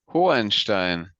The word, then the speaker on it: Hohenstein: Because I'm South African, so I say Hohenstein. What would a German say, for example? Hohenstein. You Oh. don't really pronounce the second H, you just Hohen.